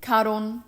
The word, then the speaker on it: Charon: Can you imagine just Charon is the Greek pronunciation. Cabron, Cabron, I need to see you at boss. Karon.